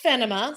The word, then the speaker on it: Fennema: let's definitely of course so um it is pronounced fenima so fenima i am the chaos eradicating officer that's ceo